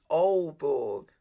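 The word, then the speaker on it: Aalborg: good so it's all so it's old borg we don't add the g thank you very much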